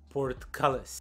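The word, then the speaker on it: portcullis: it is uh pronounced it is pronounced port callus port callus port callus just roll it off your tongue port cables let's see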